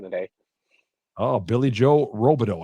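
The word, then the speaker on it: Robidoux: Oh, Billy Joe Robideau. I remember one time he was on TV on a nationally televised game, and they pronounced his name Billy Joe Robidux.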